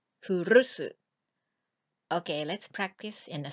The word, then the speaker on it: 古す: Those contemptuous and surprising words, how many times do you want to use?As for the highlighted part in brown, please roll your R's like R, furusu.